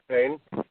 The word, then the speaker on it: Payne: Am I pronouncing that right? Is it Payne? You got it, Joe.